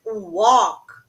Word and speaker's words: walk: uma caminhada P attention the verb Walk I go out for a walk a gente não pronuncia the letter l a gente não pronuncia a letra L Ok Silent letter and Come Back Home